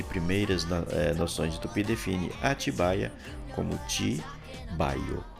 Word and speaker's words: Atibaia: Hoje se escreve e se diz atibaia, as formas tibaia com y, ettibaia com th e atubaia, etc. já estão fora de uso.